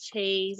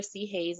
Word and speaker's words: Chayes: It's Chase or C Hayes, no matter how you say it, as long as that flavor stays in your mouth.